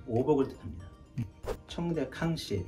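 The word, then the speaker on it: 康熙: 청대 캉시, 그러니까 우리 발음으로는 강의 시대의 그 청화라는 청화 잔인데요.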